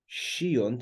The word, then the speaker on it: sciunt: Sciunt, it's pronounced in Christian Latin, sciunt.